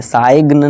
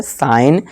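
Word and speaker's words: sign: इसी तरह से डिजाइन, इसी तरह से साइन, साइग्न नहीं, यहाँ क्या है जी साइलेंट है इसलिए इसे साइन पढ़ेंगे।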